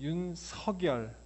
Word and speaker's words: 윤석열: 그래서 국어학자에 의하면은 그 사람 이름이 윤석열, 윤석열이 아니고 윤석열이 맞는데, 그럼에도 불구하고 본인이 원하는 이름에서는 발음할 수 있다.